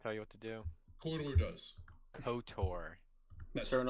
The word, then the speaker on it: KOTOR: No, say KOTOR. That's what I said. KOTOR. Yeah. There you go. There you go. You said it. You said corridor. I say corridor. Corridor. That's not how you say it.